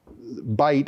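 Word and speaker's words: Bight: area in New York bite now just so people who don't know know New York bite bite is spelled b ght um the it's not a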